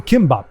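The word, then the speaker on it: 김밥: All right, so it's probably GMAP, but because I'm gonna say it's Gimbop. That's the name, Gimbop, or Kimbop as it's often pronounced.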